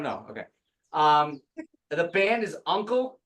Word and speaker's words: UNKLE: The band is Uncle, it's UNKLE, it's called Science Fiction, but science is spelled very wrong.